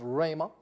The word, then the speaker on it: rhema: of your mouth rhema it's pronounced yes it's pronounced rhema and it's spelled r h e m a